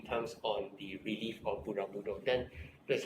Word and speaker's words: Borobudur: Pronunciation Borobudur. Borobudur.